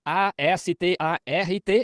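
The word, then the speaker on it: Astarte: E também se pronuncia a s t a r t e astart.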